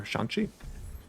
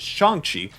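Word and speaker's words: Shang-Chi: a sixth person for shanxi also might be mispronouncing the same it's apparently it is shangchi something thank you and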